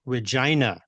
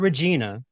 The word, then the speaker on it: Regina: and the capital of Saskatchewan is Regina, not Regina, even though it's spelled like Regina, Regina.